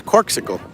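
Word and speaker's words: Corkcicle: and wine sponsored by corsical is it corsical am i saying it right i keep meaning to check that it's corkical cork yeah it is corksicle corksicle yeah yesterday i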